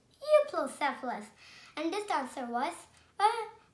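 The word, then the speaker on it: Euoplocephalus: I'm going to tell you how to pronounce it. Euplocephalus. Euplocephalus.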